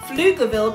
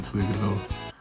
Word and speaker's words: Pflugerville: It's like a P, F at the start and L, so it's like Pflugerville. I think that the P is the only thing about this that's confusing. And that's the thing that you would stumble on. I believe the P is silent, and I think it's pronounced Pflugerville. Pflugerville, Texas.